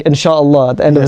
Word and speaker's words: inshallah: Can you pronounce it slowly? Sorry, I speak quickly. That's okay. No, inshallah.